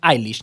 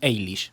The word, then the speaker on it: Eilish: Billie Eilish And yes, it its pronounced "eye-lish" not "aye-lish" The song's name is